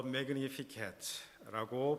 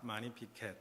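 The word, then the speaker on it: Magnificat: 마리아의 참가라고 불려지는 아주 유명한 대목이기도 합니다 더 매그니피캣츠라고 빌려주는이 마리아의 참가 영어 그대로 뭐 이렇게 불리기도 합니다만은 사실은 이게 라틴어에서 나온 유래된 말이기 때문에 발음의 문제이지만 라틴 라틴어 원문에는 많이 피카 많이 피켓 이렇게 발음을 하게 됩니다 46절에 보시면 내 영혼이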